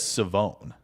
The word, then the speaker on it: Siobhan: I'm just saying East Carolina's website says Savone. Savone. Yeah, 100%. You got to read the whole comment out loud for the audio only crowd. Adam Huddle says, "Keep Savone Rell away from me, please."